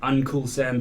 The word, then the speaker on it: Uncool-Sam: You can find me Facebook, Instagram, Uncool-Sam Beats. That's like Uncle Sam, but it's spelled uncool because I ain't cool.